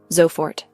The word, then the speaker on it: sofort: Here the waiter uses gern pronounced gnu which means with pleasure or gladly. Kundigung dknung beta keelner ya sofort zfort right away.